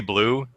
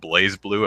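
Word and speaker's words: BlazBlue: have a it's actually Blue. The Z is silent for some reason. It's not Blaze Blueue.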